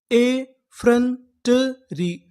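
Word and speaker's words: effrontery: यहां पर जो हमारा ओ है ये हमारा साइलेंट रहेगा।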